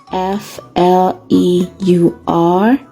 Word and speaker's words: fleur: ah in the word fleur there is the sound er f l e u r makes fleur our next sound is